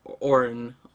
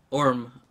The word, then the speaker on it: Orm: Orb is right there, Orin. Or whatever. I'm pronouncing his name wrong, I think. Yeah. Orm. Orm! See, Or and M. Orm. That's how you pronounce it.